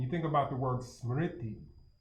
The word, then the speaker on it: smriti: But when you think about memory and you think about the word smriti, it's spelled S, the transliterated form is, you can listen to the sound too, S-M-R-T-I.